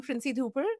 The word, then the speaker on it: Princy Dhupar: Uh so, to your audience, I'm Princy Dhooper. Uh Kevin pronounced my name greatly though.